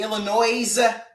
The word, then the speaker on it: Illinois: that do you get upset when people say Illinois um it depends uh I get upset if I point out hey it's actually pronounced Illinois and then you look me straight